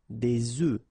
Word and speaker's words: œufs: if you listen carefully, the pronunciation is changing quite much, because for the singular form it's œuf, but then for the plural form here it's œufs, okay? Des œufs.